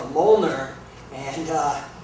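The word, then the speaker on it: Mjollnir: is uh called a Moler and uh it's spelled very weird it doesn't uh it's not phonetic it's m j o l l n i r and it's uh it's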